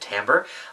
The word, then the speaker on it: timbre: Now, timbre, that is how you pronounce it, timbre, is a little bit more abstract.